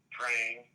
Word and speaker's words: Prange: It's a German name with silent letters. It's R-I-C-H, P as in Peter, R-A-N-G-E, Prange Comedy.